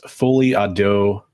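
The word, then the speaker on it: folie à deux: I wanted to go back to Son of Crom's comment because he said for English speakers it's pronounced fully ado.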